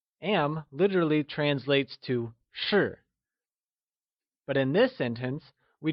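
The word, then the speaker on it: 是: etc translates to sure sure is pronounced using a falling tone or the fourth tone can you try and say sure it is said with a falling tone also known as the fourth tone like sure good job now that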